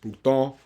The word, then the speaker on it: Bruton: My last name is French too. It's pronounced Bruton.